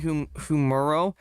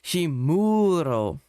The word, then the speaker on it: Himuro: It's you pronounce it as like he's saying humuro. It's actually pronounced himuro.